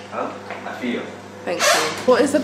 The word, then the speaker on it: Afia: I think the best thing so far is Afia. Say my name again. Say my name again. I said it wrong purposely. No, you. What's my name? Huh? Afia.